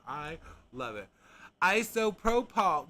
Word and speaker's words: isopropyl: Isopropyl. Wait, where are you getting the A? There ain't no A. That says isopropyl. Isopropyl. That's how I say it. Isopropyl. Isopropyl. There ain't no A in there.